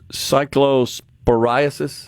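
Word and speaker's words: cyclosporiasis: deals with the outbreak of Can you pronounce it for me, please? Cycllosporasis.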